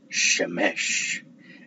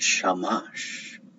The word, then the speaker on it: Shemesh: And apparently there's rules that if a Shah is next to a Mem or Ma'in, there's certain reasons you would call it Shemesh and not Shamash.